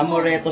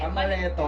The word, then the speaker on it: amaretto: ba oo Bilisan mo am moreto sour ano ano am moreto mali amaretto amaretto hindi Sige na mali